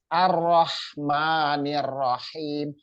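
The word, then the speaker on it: الرحمن الرحيم: Jadi tasdid itu menandakan bahwa huruf tersebut ro ya, huruf ro tersebut itu double, jadi dibacanya ditekan.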